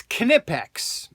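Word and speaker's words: Knipex: pronounce the name and and we all know it it's uh it's kinipex okay now some people say nippex nypex it's that's one tool company that's pronounced a dozen different ways and the funny thing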